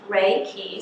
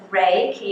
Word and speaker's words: Reiki: It's pronounced Reiki. Sometimes patients say to me, I'm ready for that Reiki treatment. So I tell them it's Reiki. It's like the rays of the sun and the keys to healing. So it's a good way to remember how to pronounce it.